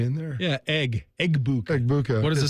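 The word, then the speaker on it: Egbuka: Eggbuka. Eggbuka. What does it say? EB. Is it just over the G? IA. Yeah. Eggbuka. That's how it's pronounced.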